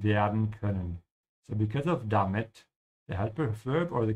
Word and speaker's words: damit: Make sure to pronounce it correctly, not damit, yeah, this is not English.